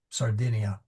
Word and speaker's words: Sardinia: It's sardia sardinia. So if I did I apologize. So the the first I is uh pronounced duh, but then the second I they're all short.